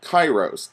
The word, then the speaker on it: kairos: I wanted to give to you is called Kairos que AI r OS and does not have